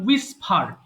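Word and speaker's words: whisper: বলে সো বলেন উইসফার উইসফারড উইসফারড এবং শুরুতে ডাবল ইউ এর পরে এইচ এর উচ্চারণটা হবে না যেমন হোয়াট মানে কি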